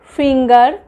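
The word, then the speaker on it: finger: যেমন ধরুন আমরা বলি অ্যাঙ্গার, রাগ, তো জি এর পরে ই আছে, তাই তো। বা ফিঙ্গার, এটাতেও দেখুন জি এর পরে ই আছে, তবুও এগুলো কিন্তু গয়ের উচ্চারণটাই, গয়ের সাউন্ডটাই হচ্ছে। তো এগুলোর ক্ষেত্রে, এই ধরনের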